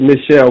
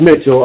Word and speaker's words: Mitchell: name is Jack up since I've been young everybody pronounced it Michelle but it's Mitchell um I got a